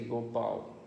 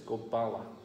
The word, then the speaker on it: Gopala: a business guru, what's the difference between Gopal and Gopala? No difference. 没有区别。 Just some people, they pronounce it different. When people speak Hindi, they will say Gopal. But in Sanskrit, it's Gopala. 说印度印地语的，他们就说 Gopal，但梵文就是 Gopala。